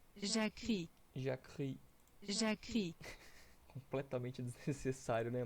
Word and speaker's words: Jacquerie: Jacquerie, Jacquerie. Jacquerie, Completamente desnecessário, né? Mas enfim. Os conflitos dos Jacquerie, denominados, né?